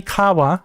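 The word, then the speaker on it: 川: Um, that is not helped by kids cuz kids don't always pronounce things exactly the way they're supposed to be pronounced, right? This should be kawa.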